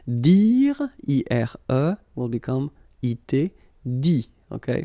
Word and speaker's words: dit: Dire, I-R-E, will become I-T, dit. Okay, phonetically, same thing here. You don't pronounce the final T.